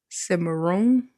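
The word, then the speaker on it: cimarrón: But the term maroon comes from the Spanish word semaroon. I think is how you say it.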